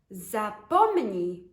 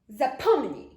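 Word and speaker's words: zapomnij: so forget it but in polish you would just say forget without the itch part so it sounds like zappomini zappomini zapponny ah forget it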